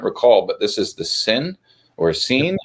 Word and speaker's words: Sinn: pronounce that zen zen so the s or a zed almost like a zed right so as far as I know with my limited knowledge of German an S followed by a vowel is sort of pronounce sort of like a muted Z okay so Zen has